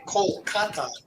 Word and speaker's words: Kolkata: mother teresa very interesting i guess they say kolkata well they say calais was the british pronunciation so they prefer kalika but you know